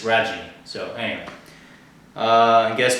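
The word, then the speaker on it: Raggi: pl princess's author and I called him James raggy apparently it's rajie so anyway uh I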